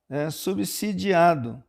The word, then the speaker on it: subsidiados: correta a forma correta o s é aqui representa o fonema se né e não o fonema Z o preço dos combustíveis